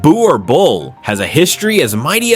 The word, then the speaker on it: Boerboel: The Burr Bull, pronounced Boo or Bull, has a history as mighty as its stature.